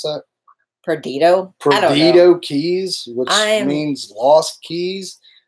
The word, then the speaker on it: Perdido: How do you pronounce that? Perdido Keys, which means lost keys.